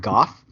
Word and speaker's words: Gough: I believe you pronounce it Gough. For years and years and years, I thought it was Go. It's Gough, but I believe it's Gough, like cough rhymes with cough.